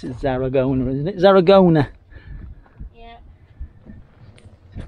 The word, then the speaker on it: Zaragoza: Not far out of Garazona, is that Garazona, whatever it's called. Lovely and quiet. Where we are now, probably about an hour out of Zaragoza. That's how you pronounce it, Zaragoza, isn't it?